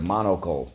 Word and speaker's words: monocle: is the first word monocle let's go mon o ko monocle which means an eye piece or uh for one eye monocle let's go first syllable mon second syllable o third syllable cull monocle all right we